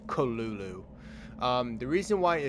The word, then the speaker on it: Cthulhu: creature like so basically a lot of people call him cthulu but his name how Lovecraft actually say his name is kalulu um the reason why